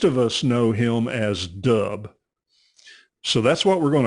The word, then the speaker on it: Dub: Okay, so it's not double as in there's two of you. No, it's just Dub.